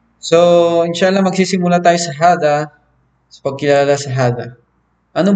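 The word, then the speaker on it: هذا: Ibig sabihin dito may nakatagong alif dyan. Kaya binibigkas ito ng mahaba. So, hindi ito binibigkas ng hada, hindi. Kailangan hada tabibun.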